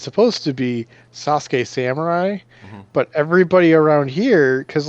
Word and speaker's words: Sasuke Samurai: So there was a Yu-Gi-Oh card that is pronounced. It's supposed to be Sasuke Samurai, but everybody around here, because like we didn't know what the fuck how to pronounce it, so we called him Suzuki Samurai.